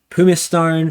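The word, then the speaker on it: Pumicestone: fire labor loss is looking a bit better pum Stone thank you for all the people who told me how to pronounce that is actually looking all right for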